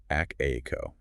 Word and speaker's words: ACTIQO: It is pronounced act ao.